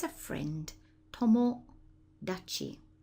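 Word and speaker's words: 友達: it's a friend Tom Tomo Dai and that Kani there is pronounced Tomo Tomo Dai your friend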